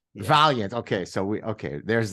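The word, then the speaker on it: Vaillant: how the Americans would say it would be Valiant is that how would you pronounce he pronounces it Valiant Valiant okay so we okay there's the difference and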